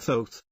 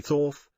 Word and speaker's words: Thoth: is a man named Thoth pronounced with a long o someday people say thorf but he pronounces it though the hieroglyph shows his